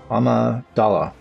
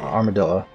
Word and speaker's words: Amidala: Amidala. Not Armadilla. That's a whole different thing.